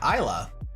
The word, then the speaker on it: Islay: Isles indeed indeed Jack not store isls except it's spelled i s l a y Isa you know the Scots would have a lot